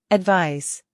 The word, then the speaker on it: advise: advise, 충고하다. 조언하다. advise, advise, 충고, 조언은 명사로 advice라고 하고 충고하다, 조언하다는 동사로 발음이 advise입니다. advice, advise 기억해 주세요.